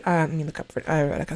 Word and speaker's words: Eureka: And so, like Naruto, specifically Eureka 7, Renton, I would, let me look up for Eureka 7 for you guys. It's spelled Eureka, but I'm pretty sure it's pronounced Eureka.